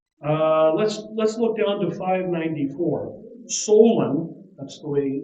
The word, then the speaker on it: Solon: Solon, that's the way it's pronounced.